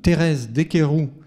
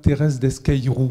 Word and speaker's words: Thérèse Desqueyroux: Vous avez pu voir, pour certains d'entre vous, le film Thérèse Desqueyroux de Georges Franju, donc version du début des années 60, à 16h15.